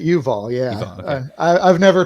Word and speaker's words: Yuval: Yusev, or Yuval. I pronounce it Yuval.